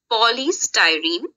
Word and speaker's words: polystyrene: Okay, don't get confused in the pronunciation of the word. Polystyrene.